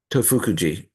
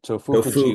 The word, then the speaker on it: Tofukuji: But because he felt that at, at, at, at Tofukuji, did I pronounce that right? Tofukuji. Okay, Tofukuji, Tofukuji.